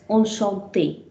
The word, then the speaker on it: enchanté: The E in English is pronounced here as a. So that changes its pronunciation to A.